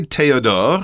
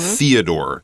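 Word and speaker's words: Théodore: also have this word Theodore that's how we would say it but the French pronunciation is a little different and since he's from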